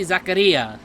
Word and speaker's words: Zaccaria: dogs alongside williams especially zakaria oh wow i pronounced right holy